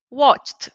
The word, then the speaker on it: watched: When I have a regular verb that ends with ch, To pronounce the past, I have to imagine that the ed is a T. This is how we pronounce it, okay? Pronunciation. So here I say watched, watched, okay?